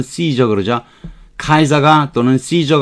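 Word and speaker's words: Caesar: 아니고 아 웰스 있어 카이사 라고도 하고 영어 발음은 씨저 그렇죠 카이 자가 또는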